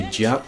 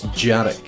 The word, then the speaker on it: Dearg: The tough one here is Dearg because there's a hidden syllable between the R and the G at the end, or the R and the K sound. So you don't just say Dearg, it's Dearg.